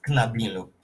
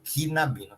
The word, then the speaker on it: knabino: Carloas knabo e vera knabino. Esse k n a gente tem que eh formar uma sílaba só comaboino. Não pode falar quinabo quinabino.